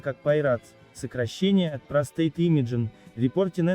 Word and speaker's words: PI-RADS: Шкала PI-RADS (читается как «пай-радс», сокращение от Prostate Imaging: Reporting and Data System)